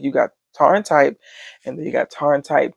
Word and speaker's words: Tharntype: But here's Tharntype. I don't know if it's Tharn type or Tarn type, but the way they were pronouncing it in the drama, it seemed like it was Tarn type.